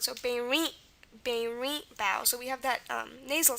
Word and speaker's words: berimbau: Again, B is normal, and then we have an ow sound, which again is not very common in Portuguese. The sound isn't, but just like the other Romance languages, we're going to spell it with an AU. Okay, so that's berimbau.